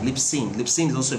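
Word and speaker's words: Libsyn: like um lips okay l-i-b-s-y-n how do you pronounce that l-i-b-s-y-n lip sync lip sync lip synth is also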